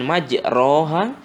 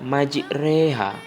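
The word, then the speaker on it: مجريها: secara tulisan adalah majroha dia berbaris fathah tapi dibacanya dicondongkan kepada kasrah tapi bukan berarti dibaca kasroh ya Jadi dibacanya bukan majroha bukan majreha tapi dibacanya majreha jadi dia menjadi bukan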